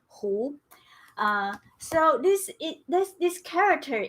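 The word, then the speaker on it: 胡: character uh is this this word is pronounced as who so this this this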